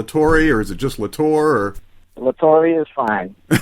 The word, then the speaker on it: La Torre: Now, Todd La Torre's voice, am I pronouncing it correctly? Is it La Torre or is it just La Torre?